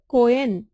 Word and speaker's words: Coen: beta so blun dissection Joel j o e l Coen H is silent c o h e n okay so